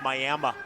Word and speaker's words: Miami: I know it's spelled like Miami, but it's pronounced Miami, Oklahoma.